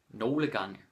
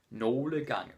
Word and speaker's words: nogle gange: Nogle gange. Danish people are too lazy to pronounce it properly. So they're just like, nogle gange. But officially you're supposed to pronounce it nogle gange.